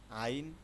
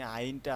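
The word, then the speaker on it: عين: আইন আর হচ্ছে গাইন। দুইটি হরফ সেম একই ধরনের। আইন হচ্ছে আমরা জানি আইনটা আমরা যখন পড়ি তখন এটা গলার মধ্যখান থেকে গলার মাঝখান থেকে এটা উচ্চারণটা আসে।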